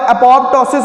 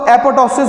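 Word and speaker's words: apoptosis: अच्छा, एक और बात है, एपोप्टोसिस को या इसमें क्लैश है, एपोप्टोसिस को एपोटोसिस भी कहते हैं। कई स्टडीज में ये भी आता है, वोकैबुलरी की प्रोनाउंसिएशन में इशू है इसके।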